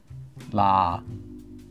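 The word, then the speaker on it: 라: so we have da and now we're going to say l instead LA and there you have it you have just pronounced well if you followed along you've just pronounced La here correctly so why does it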